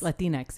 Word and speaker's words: Latinx: Latinx, yeah.